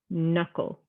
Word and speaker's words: knuckle: design silent letter g you don't say it silent k knowledge knuckle knives we're not saying that k at all we're seeing the n or the letter that's coming after it now for a silent